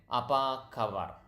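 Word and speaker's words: apa kabar: but going back so how do you say how are you it's aabar okay apaa kabar that's how you say how are you apak kabar so natural speed would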